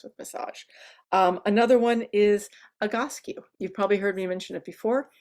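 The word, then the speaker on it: Egoscue: massage another one is Agassi you've probably heard me mention it before it's spelled strangely it's spelled like ego skew e-g-o-s cue and it's like Physical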